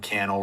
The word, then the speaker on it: Cannell: I'm at Cannell, rhymes with YouTube channel on all the platforms.